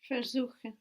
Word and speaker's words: versuchen: Versuchen. Versuchen. Where is the accent? Suchen. Good, it's not on ver, because ver is not a word in its own right and it's going to stay put.